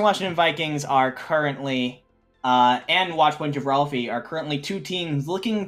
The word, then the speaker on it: Watchpoint Gibralfie: Western Washington Vikings, and I think we decided it's pronounced Watchpoint Gibralfie. I believe that's right, and if I had